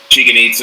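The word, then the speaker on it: Chichen Itza: Cancun and went to Chicken-itza, and which, they tell you to call it chicken pizza, so you know how to say it.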